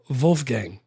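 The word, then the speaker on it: Wolfgang: Wolf Gang. You got to say it with a V like you're German. I'm just going to say it Wolf like my son's name Wolf and not have to pronounce it weird.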